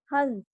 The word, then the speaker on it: हंस: जैसे हमने लिखा हंस, हंस। जब आप इसको पढ़ोगे तो आपका प्रोनाउंस होगा हंस, ठीक है।